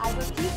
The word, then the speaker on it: Azotiique: Azotique, am I saying it correctly? That's the correct pronunciation.